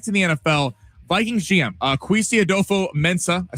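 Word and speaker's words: Kwesi Adofo-Mensah: Vikings GM Kwesi Adolfo-Mensah, I said that right.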